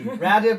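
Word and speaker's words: RADB: R-A-D-B. Radib Reviews. That's about how you say it.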